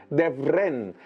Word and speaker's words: Devrent: Por ejemplo, hay un valle muy divertido que es el valle de Devrent, Devrent. Tengo que pronunciarlo en turco porque me cuesta un poquito, el valle de Devrent